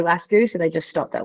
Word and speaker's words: Lascu: If you want to pronounce it not like the Aussies do, it's technically supposed to be Lascu, but I'll take any version of that.